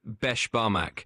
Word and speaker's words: beshbarmak: You're pretty close on the pronunciation. It's called beshbarmak.